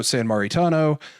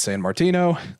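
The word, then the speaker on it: Sammartino: Bulldog, Brother Love, Bruno San Maritano, that's not how you pronounce it. It's San Martino.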